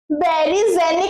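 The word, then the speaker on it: Beijerinck: बेरीजनिक इसका प्रोनाउंसिएशन भी यही है।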